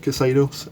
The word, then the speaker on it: Xedos: uh previous video which is cados now is pronounced cados um for that I'm using um uh something